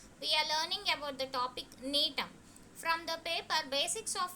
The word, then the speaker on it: Gnetum: It belongs to the division Gymnosperms, class Neotopsida, order Netales, family Netaceae, and the genus include Neem. Here the G is silent, so it spells as Neem.